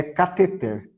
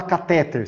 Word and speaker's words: cateter: Talvez saibam que a pronúncia correta dessa palavra que o João Vitor escreveu aqui é cateter. Não se fala catéter.